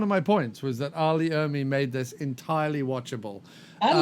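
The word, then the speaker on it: R. Lee Ermey: was a movie about Arlie Emery, is that how you pronounce it? Arlie Ermy.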